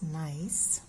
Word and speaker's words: gneiss: is a pattern although we spell it g n e i s s however it is pronounced as nice so i'm going to